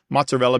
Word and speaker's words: mozzarella: large a life but mozzarella becomes mozzarel and Pudo becomes P